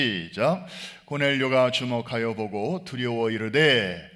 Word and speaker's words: 고넬료: 다루고 있기 때문입니다 자 고넬료 영어 식으로 발음하면 코로 넬리 웃으라고 하는 그런 분의 이름이 오늘